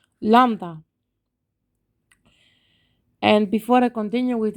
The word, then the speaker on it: lambda: to pronounce but but it's just lamb lump down the stress is here lambda and before i continue